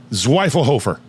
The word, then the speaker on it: Zwiefelhofer: Zwiefelhofer. You did it. That's how I pronounce it, for sure.